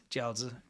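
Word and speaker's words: 饺子: Jiaozi.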